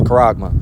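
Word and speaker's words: χάραγμα: it goes all right is how it's technically pronounced it's karagma all right what is this word Mark where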